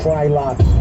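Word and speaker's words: Frylock: It's fry lock.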